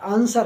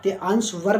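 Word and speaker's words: answer: आंसर गलत होता है आंसर होता है ड इस वर्ड में जो है व साइलेंट रहता है तो आप सही से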